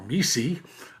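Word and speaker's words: MECE: used in case interviews is Missy or as Barbara Minton who created it pronounces it Mis but you you pick the way that you're more comfortable with mutually exclusive Collective exhaustive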